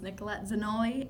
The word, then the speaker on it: Nicolette Zanolli: Okay, Nicolette, I just want to ask your first and last name spelling and pronunciation. Okay, my name is Nicolette Zanolli, Nikollette, Zanolli, Zanolli.